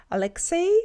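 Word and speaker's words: Алексей: Um the L is pronounced a lot more softer in the Russian language because um if the consonant is preceding vowels y u ya e so that they are called iotated vowels.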